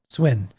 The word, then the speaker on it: Suinn: Yeah, Jason, I'm going to mispronounce this. Is it Suin? Suinn? Swin.